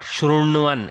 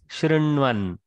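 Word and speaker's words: शृण्वन्: So, same way, Shrinvan also is not Shrunvan, it is Shrinvan.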